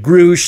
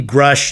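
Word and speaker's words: Grusch: with David grush and yes I guess that's his the way his last name is pronounced uh I looked at uh John Michael gautier's story on it he pronounced it groosh so I did as well but it seems to be grush in any events or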